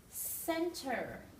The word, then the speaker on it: center: different Sound Church change now here this C sounds like an S Center City here the CH combination actually